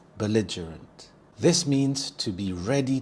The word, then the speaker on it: belligerent: Belligerent. Belligerant. The stress is on the second syllable lige. Bell belligerent. We also have the schwa sound. The h sound. belligerent.